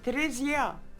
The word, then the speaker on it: Trezia: And how do you pronounce that? In French? Trezia.